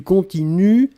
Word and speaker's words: continuent: prononcez je continue du continuent ils elle continue et ici le pluriel il continue u11 nt on écrit nt on ne prononce pas d'accord donc il continue